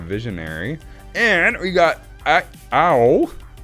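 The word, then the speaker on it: Ao: and we got i ow that's pronounced owl like oh i got a bruise um the dawn sky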